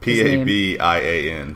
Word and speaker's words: Pabian: I probably just butchered P-A-B-I-A-N.